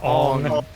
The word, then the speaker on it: Aang: The way Max says arb reminds me of how Aang is pronounced in the last Airbender movie. Yeah, Ong.